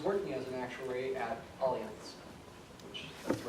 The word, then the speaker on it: Allianz: And now he's working as an actuary at Allianz, which that's the right way to pronounce it.